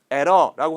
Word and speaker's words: error: 이것도 우리가 편하게 할 때는 error라고 하지만 실제 발음할 때는 your tongue never touches the roof of your mouth.